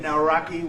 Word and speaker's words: Nawrocki: It's a great pleasure to have President Nawrocki with us of Poland.